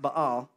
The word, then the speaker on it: Baal: Or in Texas, we call them Baal. Baal worshipers. Those dang Baal worshipers. But is actually pronounced Baal.